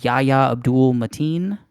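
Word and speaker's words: Yahya Abdul-Mateen: It definitely seems like the main character, Yahya Abdul Mateen, I believe is how he pronounces his name.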